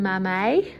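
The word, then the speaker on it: mamei: are down here so this is a philodendron mammae is how they pronounce it i don't know this plant but what is the price of these ones sort of 60 to 100.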